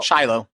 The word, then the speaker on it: Shiloh: at the Battle of Shiloh is that how you say it yeah oh Shiloh like the dog like the dog he